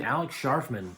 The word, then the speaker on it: Alex Scharfman: Guys, today we're talking about a movie from this year directed by Alex Scharfman. Yep, that's how you say his name, Alex Scharfman.